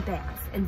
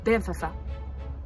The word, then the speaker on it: Banff: Now, if we're going to be in Banff and visit here, I want to make sure you know how to pronounce it correctly. It is spelt B-A-N-F-F, but it is not pronounced Banffa or Banff.